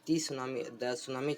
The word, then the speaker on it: tsunami: So students, in our previous videos we were discussing about the tsunami chapter. Okay, T is silent in this spelling.